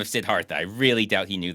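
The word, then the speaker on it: Siddhartha: people that don't know sidartha is spelled with a th sidartha for people who um are normal that's you might know him as the Buddha uh his real name is sidartha not sidharta so he doesn't even spell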